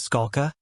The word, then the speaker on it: Skalka: the court said please state your name and spell it the witness said my name is Scala SK a lka the court said you may